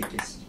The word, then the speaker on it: Cassis: Et puis c'est pas Cassis, c'est Cassis. Dans le sud, on prononce tout d'abord.